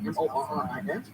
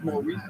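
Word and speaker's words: Morice: It is, because there's, and he doesn't pronounce it Maurice, and I know Michael Person knows this. Morris Gift. People want to say it's Maurice Gift, it's Morris Gift.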